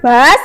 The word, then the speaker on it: bus: Bacanya bas artinya bis bas.